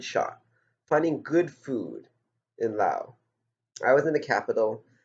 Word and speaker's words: Laos: So I just finished my week-long journey through Laos. You know the S at the end is silent.